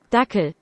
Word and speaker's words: Dackel: Dackel. It's actually pronounced that.